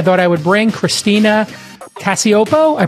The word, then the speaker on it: Cacioppo: I thought I would bring Christina Cacioppo. I pronounced it correct.